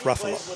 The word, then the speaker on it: Ruffalo: So just like Buffalo, but Ruffalo.